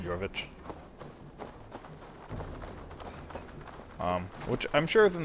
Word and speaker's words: Jorvik: It's Jorvic, but it's pronounced Jorvich, because J's are pronounced more like Y's, and IC's are like ICH's, so it's like Jorvich.